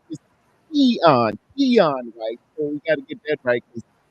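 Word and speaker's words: Keion: His pronunciation is Keon White.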